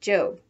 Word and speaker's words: Job: Ruth shouts 1-2-whee before going off to her job, which in the Bible is pronounced Job.